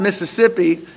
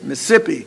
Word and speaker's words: Mississippi: I use that example it's not Mississippi if you go down there it's Mississippi you know you got